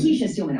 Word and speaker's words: Kesia Steelman: And talk to us about the president and the CEO, uh Kesia Steelman. Am I pronouncing your name correct? Kisha Steman. Kisha Steelman. Okay. She is an insider, meaning she worked at the company itself as an operation.